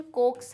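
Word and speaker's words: coax: अच्छा, इसका pronunciation कोक्स है ऐसे।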